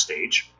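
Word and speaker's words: Stej: I think that's pronounced Stage.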